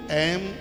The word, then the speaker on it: ऐं: सबसे पहले ऐं, इसका उच्चारण सही कीजिए। बहुत लोग एंग बोलते हैं, जो एकदम अशुद्ध है बिल्कुल।